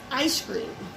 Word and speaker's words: Eyescream: mean we can't can't play anyhow this is ice cream and it's spelled e-y-e screen in that cube in that